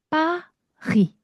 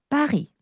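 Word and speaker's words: Paris: 자, 영어로는 우리가 패리스라고 읽잖아요. 자, 영어랑 프랑스어랑 아주 다른 부분 중에 하나는 뭐냐면 마지막에 오는 자음을 대부분 발음하지 않습니다. 음. 그래서 우리는 빠이스라고 읽지 않고요. 빠이. 빠이. 빠이. 네. 빠이라고 발음을 해 볼 겁니다.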